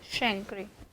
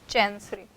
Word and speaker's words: chancre: This is pronounced like chancre, not chancery.